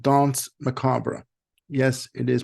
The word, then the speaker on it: Danse Macabre: glare the latest release from Duran Duran called Don macabra yes it is pronounced macabra this is the band's 16th release through BMG